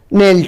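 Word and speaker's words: knelt: है आपका एक शब्द नेल्ट हुआ। नेल्ट एक पोएम में शब्द आया है जिसका अर्थ होता है घुटने टेकना, घुटने टेक कर बैठ जाना। तो इसमें के क्या है, साइलेंट है।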